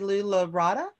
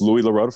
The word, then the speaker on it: Louis Larada: Next on the list is, I may be pronouncing this incorrectly, Lou Larada. That's pretty close, Mr. Chairman. It's Louis Larada from Senate District 15.